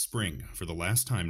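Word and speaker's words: Xpring: right here so keyless is a spring it's pronounced spring for the last time not next spring spring investment again they're kind of just building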